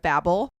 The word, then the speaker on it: Babel: Also, she kept correcting me because I kept saying it wrong. So it is the Tower of Babel.